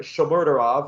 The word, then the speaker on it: Shomurodov: You get Eldor Shomurodov, or Eli Shmurda, as I like to call him. Eli Shmurda. Oh, yeah, we're going to have to learn how to pronounce the name. Shomurodov.